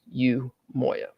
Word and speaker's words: Umoiya: greetings everyone once again my name is yoya you spell that uu m o i y a and is pronounced U Moya I'm a longtime resident